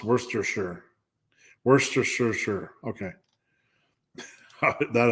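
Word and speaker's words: Worcestershire: Lester okay Lester also worst sh sh is pronounced Worster sure Worster sure sure okay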